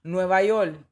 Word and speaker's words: Nueva York: And I love the spelling, because immediately I'm like, he's leaning into the Puerto Rican pronunciation. We are notorious for not saying our R's. They become L's. Nueva York, right?